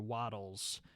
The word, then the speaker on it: Wattles: created by the youtuber waddles um that is spelled w-a-t-t-l-e-s not waffles not waffles i made that mistake not waddles like uh how a duck walks he does like grapes